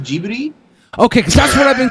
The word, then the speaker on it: Ghibli: great time is it pronounced Ghibli it's actually pronounced gee buddy ok that's what I've been calling I didn't